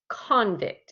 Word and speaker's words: convict: yes you tried to vote yes lon good convict everybody say convict convict good okay i put